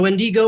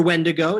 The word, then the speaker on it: wendigo: with the uh with the wendigo or when to go it depends on where how where you're from how you say it but uh it's mostly